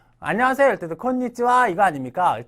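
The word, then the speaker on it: こんにちは: 이럴 때는 콘니 니지 오늘 어 안녕하세요 때도 콘니치와 이거 아닙니까 때 콘 니지를 그때는 콘 디즈가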